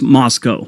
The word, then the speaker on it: Moscow: Moscow Idaho and it's spelled Moscow but it's pronounced Moscow whenever someone's moving to Idaho you always hear